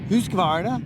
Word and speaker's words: Husqvarna: I think if you're actually from over there, it's Husqvarna. Yeah. They say it like that.